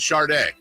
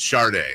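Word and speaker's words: Schröder: rabbit hole on this there's like an r in there and there should it's sad d e but people pronounce it Shard I I hear you dud but I'm telling you go listen to somebody say your name it's Shard there's like a weird R in there unless it's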